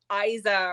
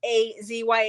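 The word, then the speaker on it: Asya: really hard to say it's like um Isa or something it's a-s-y-a but she says it's a z-ya is how you say it it's really hard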